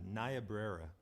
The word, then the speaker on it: Niobrara: Now, how do you pronounce that word? So that is a Niobrara.